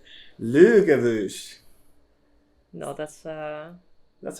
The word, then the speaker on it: Laugavegur: It's the Laugavegur. Laugavegur. Yeah, but it's not pronounced that. It sounds like this. Laugavegur.